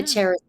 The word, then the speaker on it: Charis: Charis. It's technically, I think the official pronunciation. It's a Greek word and it means is charis, but it's connected with grace and love, and so Oh, and cherish.